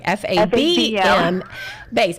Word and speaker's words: FABM: to say it because it's like fab m bass right it does and the